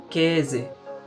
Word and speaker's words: Käse: Pour commencer, nous avons le A umlaut qui se prononce E. E. Par exemple, Käse, Käse.